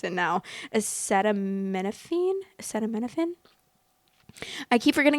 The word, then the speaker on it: acetaminophen: Acetaminophen. I keep forgetting how to pronounce it. I'm like, I think I was saying acetapetam.